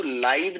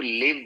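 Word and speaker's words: live: चीज बस ध्यान रखिएगा इसको लाइव नहीं कहते इसको लिव बोलते है यानी के जब वब के तौर पे यूज़ होता है ना तो रहना लिव का मतलब मतलब होता है रहना।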